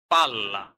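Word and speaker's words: palla: দেখুন ডাবল ব্যঞ্জন ধ্বনি ডাবল অক্ষর জোর দিয়ে একটু লম্বা করে উচ্চারণ করতে হয় যেমন উদাহরণ পালা যখনই দুইটা এললে হবে সেক্ষেত্রে পাল্লা পাল্লা যাই হোক এই যে উচ্চারণের পার্থক্যগুলো এই পার্থক্যগুলো আপনারা খেয়াল করে দেখবেন।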